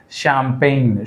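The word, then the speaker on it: champagne: कौन सा लेटर जो है साइलेंट लेटर है? शैंपेन।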